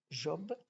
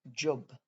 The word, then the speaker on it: job: mon tour de lecture au lieu de prononcer job j'ai dit job je l'ai prononcé à l'anglaise et cette vieille folle